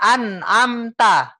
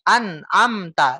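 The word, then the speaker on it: أنعمت: Jadi enggak seperti ini, Pak. Siratal ladzina an'amta. Enggak gitu, Pak. An'amta. Ini kita baca satu persatu namanya. Bukan baca Al-Quran secara keseluruhan. An'amta. Ya. Tapi yang benar adalah an'amta. Hidup dia, Pak. An'amta. Bersambung. An'amta. Coba. An'amta. Tekan N-nya. An'amta.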